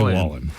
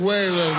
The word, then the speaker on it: Wallen: uh called him well he mispronounced his name let's hear his Jeff Bridges announces Morgan Wallen but he doesn't say Wallen and the CMA award for Entertainer of the Year goes to Morgan whan Morgan way um police